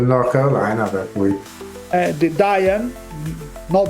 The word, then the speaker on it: Dayton: Wright, che per le altre cose sono giusto del North Carolina, per cui Di Diane, no Dayton, ma hanno detto non si pronuncia Dayton, è Diane.